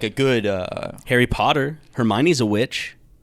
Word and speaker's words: Hermione: I know how it's pronounced because of the movies and I know it's Hermione. My sister was a big Potter head. Uh, so I know it's Hermione, but like reading that